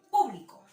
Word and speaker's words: público: La palabra o la sílaba der en este caso. Y lo voy a colocar en un círculo. Der es la sílaba tónica. Otro ejemplo, público.